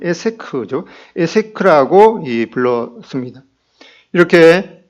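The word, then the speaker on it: עֵשֶׂק: 그래서 이 우물을 두고 이제 이삭의 종들과 그랄 사람들이 다투었다고 말씀하고, 그래서 그 이름을 이제 이 다툼의 우물이라는 이 여기는 에섹이라는, 원래 발음은 에세크죠.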